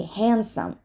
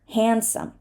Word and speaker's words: handsome: just gonna skip this D in the middle right because it's a consonant cluster and that is what we do in consonant clusters we often drop the middle sound to make it easier to pronounce so it's such a common thing to drop this D that it's become the norm so we say handsome handsome sandwich same story sandwich